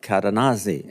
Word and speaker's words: Cadenazzi: The way I understood how to pronounce the witness's name was he said it rhymes with snazzy.